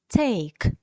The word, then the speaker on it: take: складі давайте вимовимо слово take брати щось take ми останню літеру і не чуємо вона не наголошена тому щоби додати до